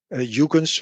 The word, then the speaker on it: Huygens: Christian Huygens, Huygens, would you pronounce it probably in English, was a Dutch physicist and astronomer.